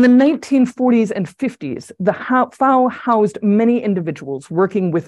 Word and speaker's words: FAO: The FAO rhymes with cow or now. That's how the Italians say it, so it's how the FAO employees say it, so it's how I say it.